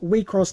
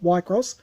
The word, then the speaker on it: Wixoss: the last time that said to pronounce we cross not y cross it just tells you